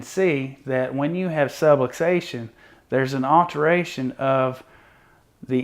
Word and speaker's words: subluxation: that we use called subluxation now I want you to take a second and pause and repeat after me subway station that's right subway station it rhymes with subluxation you'll never forget that